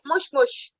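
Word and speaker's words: もしもし: But if you are saying hello on a phone call, then you will say mush mush. So here it's moshi, but you will, in pronunciation, you will call it mush mush.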